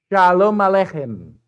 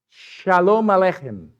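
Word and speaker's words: שלום עליכם: Shalom Aleichem. Pero tiene que ser hem. Como que tienes un catarro. Shalom Aleichem.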